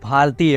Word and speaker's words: भारत: में भी आती है भारत को तो इंग्लिश लेटर में लिखने को लिख लेंगे लेकिन जो लोग इसका प्रोनाउंस एशन नहीं जानते हैं जैसे कि विदेशी आदमी कोई होगा तो सोचिए वो क्या प्रोनाउंस एशन करेगा इसका भरत करके भी पुकार सकता है इसको यही सब कारण